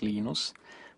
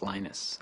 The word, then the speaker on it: Linus: lus Torvalds came along lenus or Linus what's the exact your preferred pronunciation um when I speak Swedish it's you know when I speak Finnish it's lenos when I speak English it's lonus and I really don't